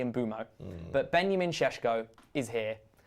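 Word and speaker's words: Mbeumo: Obviously, the the Embumo and Burmo one gets me. It's definitely Embo, but Benjamin is here.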